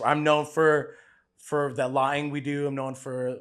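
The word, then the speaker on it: laing: dish that I'm strongly proud about it's called lying which is a how do you spell that l a i n g okay it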